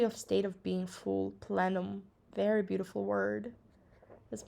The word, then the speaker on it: plenum: saying this word incorrectly plenum presentations what is platinum i need to find out the meaning and then i'll pronounce it correctly next time plenum like planned well there's a brand